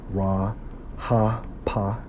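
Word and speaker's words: רחף: Strong's H 7363, pronounced as Ra Ha Pa, which means what?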